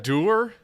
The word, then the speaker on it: dour: It was Dour. very dour. Dour is what you mean, is how you pronounce that word. It's not like a French Dour?